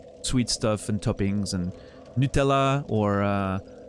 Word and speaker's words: Nutella: Thank you for pronouncing Nutella correctly. Yeah, I mean, it's Italian, right? I have to. Nutella.